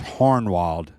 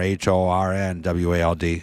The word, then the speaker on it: Hohenwald: Hohenwald Road h-o-h-e-n-w-a-l-d um the way you pronounce it here in London Tennessee is hornwalled with an R h-o-r-n-w-a-l-d so hornwald is how you pronounce